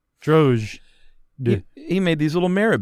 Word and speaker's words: Drozd: How do you pronounce that? Is it D silent or the Z? Or neither one? Droge. Or both? Droge.